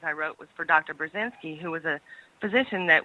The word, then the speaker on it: Burzynski: I had a hashtag dr. Burzynski rhymes with Lewinsky what are the odds